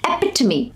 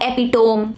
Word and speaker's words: epitome: career not carrier career Avalanche not Avalanche Avalanche epitome epitome not epitome now this one is very commonly mispronounced this is actually a French word not